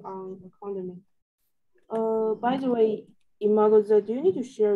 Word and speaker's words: Imagoza: Am I pronouncing my name correctly? yeah, Imagoza, Imagoza.